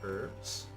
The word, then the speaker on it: herbs: So I got all my herbs. Hey, and this is my finished quest, green check mark. I'm gonna hand over the herbs. Herbs. The H is silent.